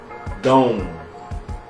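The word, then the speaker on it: dum: but you also got like dom like madone d-o-m-e but it's not spelled like that it's the d-u-m uh that seed mantra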